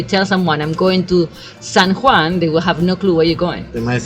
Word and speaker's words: San Juan: I know that probably you should be said San Juan but most people here will say someone and they would they would not even pronounce it properly and if somebody is comical